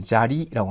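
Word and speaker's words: 砂利: 샤로 읽었죠 이때는 뭡니까 샤가 아니고 또 자가 되죠 자리라고 합니다 자리는 이제 자 그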